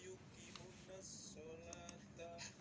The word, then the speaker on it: يقيمون الصلاة: Wa yuqimunas shalah.